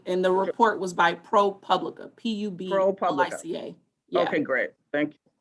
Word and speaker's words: ProPublica: Are you familiar with the July 2020 report by ProPublica, pronounced ProPublica, on police tactics at protests?